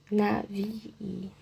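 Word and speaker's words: נביא: O fraco aqui, aqui esse bet, ele também não tem o da gash. E ele, quando ele não tem esse da guest, ele faz som de V. Por isso que vamos falar nave, OK? Ã, o Yod ele normalmente tem som de Y, por isso que eu meio que dupliquei esse I, ok? H, e o alef não tem som.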